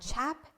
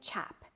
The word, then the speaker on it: chap: spelt like r a s t rust and chap spelled like c-h-a-p rost chap ross chap crossed chat